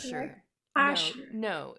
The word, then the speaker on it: Ascher: Asher. No, Asher. no, it's Asher. Some people say Archer, and it really ticks me off, because it's not an R, it's an S, my friend. It's an Okay. Asher, For not me, I'm the Chinese.